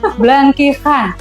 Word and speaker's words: blangkihan: Nah kalau di Lampung itu namanya blangkihan. Blank. Blankhan. Agak sulit nyebutnya karena aksara Lampung itu tidak ada huruf H. Adanya K dan H. Jadi bacanya blangkihan.